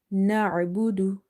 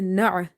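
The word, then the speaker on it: نَعْبُدُ: Ain is from the middle of the throat. Na'budu. So when ain is silent and we are trying to pronounce it from the middle of the throat, sometimes we give it a sudden pause. Avoid that because it will be a mistake. So never say na'a.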